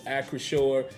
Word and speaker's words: Acrisure: It is Acrisure. That is how it's pronounced.